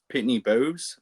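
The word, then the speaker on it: Pitney Bowes: or with um they they you use Pittney Bows is that's how you say it.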